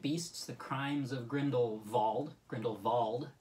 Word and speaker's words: Grindelwald: Grindelwald, for anybody who thought it was Grindelwald. That's what I thought it was. Yeah, no, they pronounce it Grindelwald in numerous scenes, so I guess it's like...